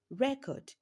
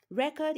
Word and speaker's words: record: Record here, record is a noun while the word record is a verb. Record has its stress on the second syllable, record as its stress on the first syllable.